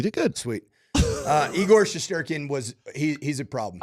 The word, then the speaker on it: Shesterkin: me a give me a little uh Russian pronunciation eigor shesterkin shesterkin yeah it's not that hard no okay sometimes